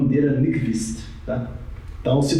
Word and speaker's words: Nyquist: Ele vai falar Nyquist, então, que é próximo, né? Tá? Mas mais ou menos assim que pronuncia. Nyquist, ok?